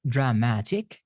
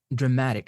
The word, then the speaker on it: dramatic: Next one is dramatic, not dramatic. It's dramatic. Stress is on m. Remember, words ending in ek tend to be stressed on the syllable before them. The syllable before ek is m. Dramatic, dramatic. Next one is guarantees, not guarantees, guarantees.